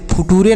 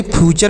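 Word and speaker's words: future: टी यू आर ई तो इसे फूटूरे नहीं फ्यूचर पढ़ेंगे नेचर फ्यूचर तो आप इसे याद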